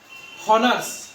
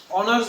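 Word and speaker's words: honours: বলি না কি বলি অনার্স বলি অারস অ দিয়ে দিয়ে উচ্চারণ দেখ ছিল কনসোনেন্ট কিন্তু উচ্চারণ আসে কার মত ভাওলের মতো তাহলে তাহলে এখানে হবে এন।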